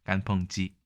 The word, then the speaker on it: 干烹: 우리말로는 건 개이지만 예 중국어로는 간펑이라고 발음을 합니다 간펑이 토사구팽 할 때도이 행자가